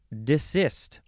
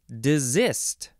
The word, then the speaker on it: desist: the first word is desist or desist with a z sound or the first